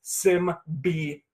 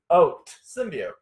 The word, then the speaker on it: symbiote: The correct pronunciation is Symbiote. Symbiote.